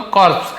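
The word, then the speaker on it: corpse: कौन सा लाश, वही बेताल का लाश जो था उसे, तो कॉर्प्स ऐसे पढ़ेंगे, कॉर्प्स लाश।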